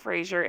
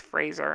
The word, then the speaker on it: Fraser: handle this for how i say it wrong it's not frasier it's fraser i know uh how